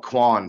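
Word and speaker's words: Qwoin: that is qw oin so that's how you pronounce that everybody's always curious you can call Kwan to my my friends that make fun of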